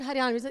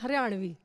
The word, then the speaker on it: हरियाणवी: इट्स नॉट हरियाणवी, इट्स हरियाणवी.